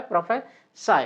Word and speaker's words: prophesy: तो इसमें कौन सा आ सकता है, प्रोफेसी, ये प्रोफेसाई, तो वर्ब कौन सा होता है, प्रोफेसाई, है ना।